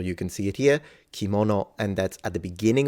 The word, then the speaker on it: kimono: can see it here kimono and that's at the beginning of a word and it does not turn into a g it's still pronounced as in its original sound which is K literally mono means object